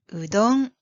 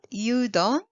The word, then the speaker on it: udon: what's the name yes it is udon not yudon or Adam but udon three sounds we don't actually you